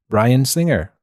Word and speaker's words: Bryan Singer: And speaking of being put through the ringer, not ringer, but rhymes with ringer, Bryan Singer.